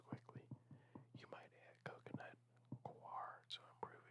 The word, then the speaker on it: coir: you might add coconut coir to improve its water holding capacity. It looks like it's pronounced coir. It's like noir, but with a C.